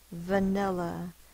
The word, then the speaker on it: vanilla: Vanilla. It's a schwa, it's spelled with an A in this word.